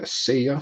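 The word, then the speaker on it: Seiya: uh bobby whitt jr or of course uh say ya suzuki we did a a workshop on how to pronounce his name correctly right before the start of the show uh so sia suzuki the japanese free agent who signed with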